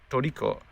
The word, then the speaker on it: Toriko: Obviously in Japanese, but I said Tricot like Tricot, because that's the way I've always assumed that it was spelled or spoken as. And she kind of looked at me confused, and I tried 2 different pronunciations, kind of making myself look like an idiot. So then I just looked up on my phone, showed her a picture, and she was like, oh, Toriko.